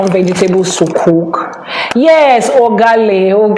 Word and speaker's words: Ugali: Ogali. Yes, that's what it's called. Or is itali or Ugali? Something like that. It's very close to that gal pronunciation. It's very close to that. So, it has been Ugali. Thank you very much, Sumaya. Ugali. It's called Ugali.